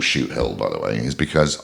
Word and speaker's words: Shoothill: I've been calling it Suithill all day, and then I was like, Shoothill. So that is now embedded in my brain because I was saying it wrong, and now I was kind of like, it's Shoothill.